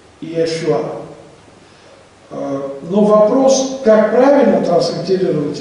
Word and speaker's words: Иешуа: Там читается как «Ишуа». Второе «и» может возникнуть только при огласовке, но огласовки неправильные, когда «э» будет произнесено как «и», потому что по-еврейски это будет «и-э-шуа». Иешуа.